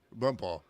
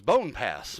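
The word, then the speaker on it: Bonpas: second day on the job and have to pronounce Bompaw Creek. Bumpaw. It was Bumpaw. Right. Well, the first time it was Bone Pass.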